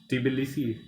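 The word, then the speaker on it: Tbilisi: capital है बिल्सी टी ऐसा लग रहा था कि साइलेंट है बट फिर मैंने प्रोनंसिएशन चेक करी अ टी बिसी ट ट बिसी इसको ऐसे प्रोनाउंस करते हैं प्रोनाउंस करते हैं और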